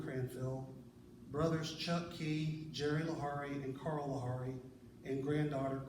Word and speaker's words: Laughery: be sure they knew how to say his last name lari because that's a thing